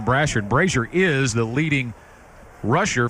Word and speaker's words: Brassard: us know we were making a mispronunciation on one of the running backs names cam brazier instead of cam Brassard brazier is the leading